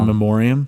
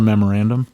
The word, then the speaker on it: in memoriam: In memoriam. Thank you. You're welcome. I always mispronounce that, and as funny as it is, it's not a memorandum. It's not a memorandum. And it's not a moratorium.